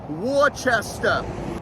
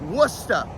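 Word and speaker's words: Worcester: an i bottom one it is not Worchester it is wora w o s t a h wora I'm heading down there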